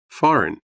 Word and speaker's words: foreign: G is silent. Dishonest. H. Doubt. B. Foreign.